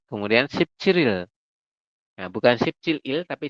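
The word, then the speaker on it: 십칠일: Jadi dibacanya Sip Ciril. Nah itu ya, jika ditambah dengan satuan seperti ini, maka nanti dibacanya Sip Ciril. Jadi rialnya nanti naik ke sini, seperti itu.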